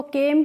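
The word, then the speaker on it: came: तो यहां पे देखिए सी ए को हम फिर से के पढ़ लेंगे और एम से पढ़ेंगे मा और इ का तो हमें प्रोनाउंसिएशन किसी में भी नहीं करना है।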